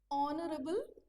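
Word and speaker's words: honorable: अब कुछ वर्ड्स ऐसे होते हैं जो जो जिनकी स्पेलिंग्स जो है ना अ कसोनेंट लेटर से स्टार्ट होती है। बट उसका जो आप जब प्रोनाउंस करोगे तो उसका साउंड वोवेल वाला आएगा।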